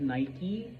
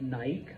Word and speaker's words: Nike: so it should be Nike not Nik okay um the reason why we do that is because it's not an English word it's a Greek word okay it is the